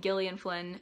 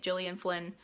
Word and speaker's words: Gillian Flynn: Side note, I used to see people pronouncing it Gillian Flynn, and then I saw people pronouncing it Gillian Flynn, and I don't know which one is correct, and I don't know what is the accepted pronunciation now, so I'm going with Gillian because that seems to make the most sense.